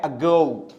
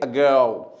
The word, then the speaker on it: ago: देखिए मैंने लिखा है अगो। क्या लिखा है? मींस अ पे जोर नहीं देंगे, ग पे देंगे, अगो। Many years ago there was a king।